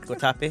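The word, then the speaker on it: Guatapé: um this was in guape guatape that's how you say it guatape this was at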